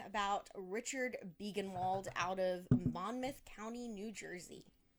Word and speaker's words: Monmouth: But this week we are going to be talking about Richard Biegenwald out of Monmouth County, New Jersey. Right? I pronounced that right? Monmouth?